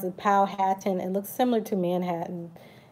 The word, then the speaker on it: Powhatan: to spread the languages you just spoke about power ten pow like powwow hat like I had on your head and I'm jealous I can't spell in my head Nanticoke yes Nanticoke people pronounce the Powhatan and looks similar to Manhattan and that's the